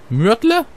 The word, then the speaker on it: Myrtle: wird hier erst werde hier wird es ausgesprochen mörtel die emster du machst